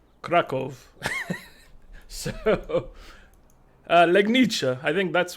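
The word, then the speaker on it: Kraków: And then, you know, Krakow, if you're saying it, is like Krakow.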